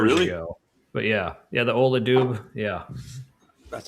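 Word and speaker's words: Ola Dubh: But yeah, the Ola Doob.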